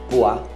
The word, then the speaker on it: poivre: Pimenta, poivre, não pronuncia o E.